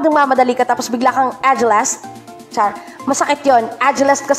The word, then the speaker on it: agelast: Yan, may two versions po ang pronunciations niyan. Ang una po ay agelast. Agelast. O kaya ay agelast. Agelast. Pero karamihan na ginagamit o nakita kong mga ginamit sa mga dictionaries ay agelast.